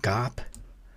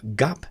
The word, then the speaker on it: 갑: But gap has a beginning consonant, giok, which is more or less G, but it's usually pronounced a little sharper, harder than we normally think of G in the English language.